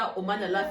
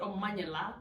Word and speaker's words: Omanyala: I say his name like a Nigerian. Omanyala. It's not Omanyala. His name is Omanyala. It's Omanyala. The amount of time my husband has corrected me is yes, it's Omanyala.